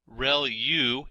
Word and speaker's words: ReLU: There are multiple hidden layers like convolution layer relu is how that is pronounced and that's the rectified linear unit that has to do with the activation function that's used.